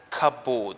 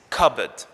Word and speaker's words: cupboard: cup and board and many people will think that it's pronounced as cupboard or cabord so this is the wrong pronunciation the correct pronunciation is cupboard a cupboard is a